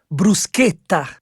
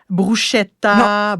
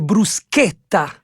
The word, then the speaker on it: bruschetta: Moi, je sais jamais si je dois dire brouchetta. Brouqueta mais c'est parce que le ch est est est prononcé comme un cas en italien fait que c'est brousqueta brousqueta exact une bonne